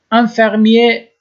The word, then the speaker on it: infirmier: البته مذکر مؤنث داره انفرمیه که آخرش او نداشت میفهمین که مرد است و اغ تلفظ نمیشه و اگر مؤنث باشه